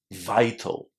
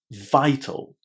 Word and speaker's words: vital: Vital. Vital. So I hope we can agree that the I there is pronounced as again an I just like the letter I in the English alphabet.